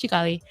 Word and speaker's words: Xicali: And I was like, yep, it's Xicali.